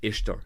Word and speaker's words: Ishtar: of all this meme is wrong isar is pronounced ister not Easter in many languages including Spanish French and Italian